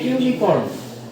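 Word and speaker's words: unicorn: তারপরে এ ইউনিকর্ন এ ইউনিকর্ন উচ্চারণটা কিসের মত হইছে ইউ এর মত হইছে ঠিক আছে সেই কারণে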